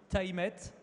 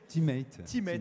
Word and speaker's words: Tymate: Une première interview à l'antenne, donc Marc-Antoine Navrez, le CEO de TimeMate. Je l'ai bien prononcé ? Teammate, voilà.